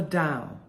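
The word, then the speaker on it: Tao: but anyway he talks about the da which is spelled t AO and he talks about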